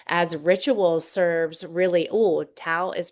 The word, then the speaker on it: Tao: ritual serves really Oh Tao is pronounced like Dow with a D sound.